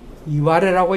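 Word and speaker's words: 磐余: 그런데요, 같은 식으로 일본 서기를 보면은 일본 지명에 가령 여기 이제 맨 위에 나온 게 이제 우리식으로 요새식으로 발음은 반야라고 발음하지만은 사실 이것은 이와레라고 일본 사람을 부릅니다.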